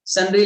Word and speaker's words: sundry: सुंदर होते हैं उसको सुंदरी डेटर होते हैं क्या? नहीं, तो ये सुंदरी नहीं लिखा हुआ है, ये सन्ड्री लिखा हुआ है।